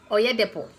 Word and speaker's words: Oyedepo: How do you pronounce his name, Shadi? Oyedepo.